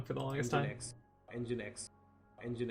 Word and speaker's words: nginx: and Gen X and Gen X for the longest time I thought it was nginx which sounds pretty vulgar but that was my only say it inside my head thing until somebody actually pronounced it for me oh this one this